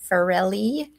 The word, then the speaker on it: Farrell: where the author, Farrelly, did I say it right? She has a new last name. I think it's Farrell.